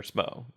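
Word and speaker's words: Smough: Or Smo, or Smuggles, or Smith, or Smith, or however you say his name. Smo, I think is generally accepted now, but I'd still prefer Smog.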